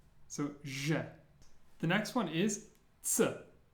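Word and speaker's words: Ж: The first one is pronounced je. Je. And it's like a ZH put together to make a j sound.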